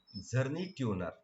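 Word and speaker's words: Czerny-Turner: Zerny tuner. If you see C also, but it is silent, that is known as a Zerny tuner instruments.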